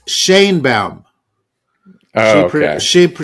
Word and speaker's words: Sheinbaum: It's Sheinbaum. Oh, okay. She pronounces it Sheinbaum.